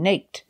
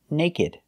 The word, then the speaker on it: naked: are frequently mispronounced because the ed is not pronounced like a verb in the past if they were verbs they would be pronounced crooked and naked but they're not verbs